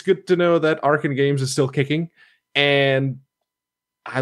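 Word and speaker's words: Arcen Games: It's developed by Arkane Games, and I learned the pronunciation of that from the email I got, because they have A-R-K-E-N in parentheses after the name of the company.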